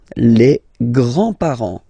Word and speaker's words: grands-parents: Les grands-parents. Les grands-parents. Remember, you don't pronounce this final S here. Grands-parents, okay? So, le grand-père, grandfather.